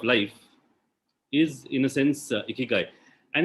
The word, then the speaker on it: ikigai: Ikigai is primarily a combination of these 4 syllables, and it actually comes to iki and gai, and there are various